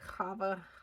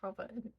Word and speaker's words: Chava: mother of life, and I'm actually pronouncing Shava wrong, but for the sake of English Americanizing it, we'll use that. I say it Shava made. That's how I pronounce this. But in Hebrew, I think it's like Chava.